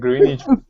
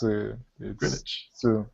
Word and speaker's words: Greenwich: And Greenwich, it's Greenwich.